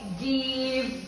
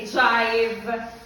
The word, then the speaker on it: give: Krome, give, get. We will not say jive. We will not say jet. Understood?